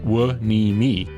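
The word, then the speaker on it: Hueneme: On our port side, just as we leave the harbor, Port Wanimi, pronounced Wimmei, because of course it is.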